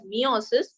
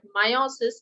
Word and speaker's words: meiosis: topic for today is meiosis some people also pronounce it as meiosis but meiosis is the correct pronunciation all right let's go